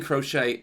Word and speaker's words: Croce: out how to say his name uh Jim crochet is a well was a singer songwriter in